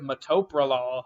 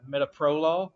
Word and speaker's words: metoprolol: ever I was calling I was calling made-up I was saying instead of metoprolol housing mehta pro-law so that's something to